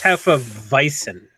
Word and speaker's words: Hefeweizen: It's called Hefeweizen. I don't know how you pronounce that, to be honest. Hefeweizen. Hefeweizen. You're our German. coach, W's man. are V's and V's are W's. It's Hefeweizen.